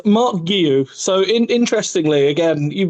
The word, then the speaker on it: Marc Guiu: So the first question, how do I pronounce it? Uh it's Mark Guillu.